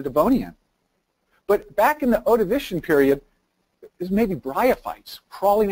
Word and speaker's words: Ordovician: And if you follow the clock back here, the Glomus starts radiating in the, how do you pronounce it, Ordovician period, right? Ordovician?